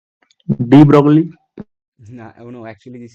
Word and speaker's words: De Broglie: No, oh no, actually this is Dabroy. The right pronunciation of this is Dabroy, not Debogli. Okay, we made it according our local language, but this is actually the Dabroy.